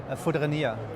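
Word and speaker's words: Fourdrinier: Foudrinier.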